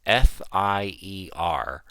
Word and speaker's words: Fier: Yes, so but it's not spelt fear like that. It's spelt Fier, and they kind of say like, oh, it's Sarah Fier, and it's like, no, it's fear. It's fear.